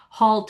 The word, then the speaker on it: halt: that when the A is followed by an L and in the words, I'll get them out in a minute, halt and chalk, because of that L in there, you're going to have this really small lip opening.